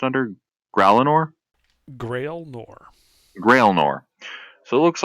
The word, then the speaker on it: Gralinor: wait, how's this pronounced under Gralinor? Grail Nor.